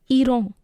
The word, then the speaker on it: Iran: Even though the spelling of Iran is same as in English, the pronunciation is different. It's Iran.